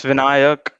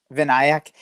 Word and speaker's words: Vinayak: Did I pronounce that right? It's Vinayak. Vinayak.